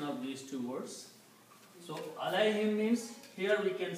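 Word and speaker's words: عليهم: Now in the tajweed, in the recitation, when we combine these, we do not pronounce this dhamma here, but we pronounce it kasra. So it is pronounced as alayhim.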